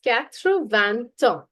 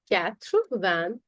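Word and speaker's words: quatre-vingt-un: So it becomes Kravan. Katra van. Notice that there is no s in van.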